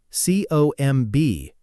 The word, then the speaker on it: comb: Think about comb, c o m b, but we say comb. No b sound at all.